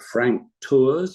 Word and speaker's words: Frank Tours: Perhaps they shouldn't be new, but Frank Tours, is that how you pronounce?